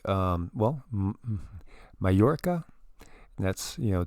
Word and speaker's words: Mallorca: these like um well mallorca that's you know double l is like a y and in spanish that was one of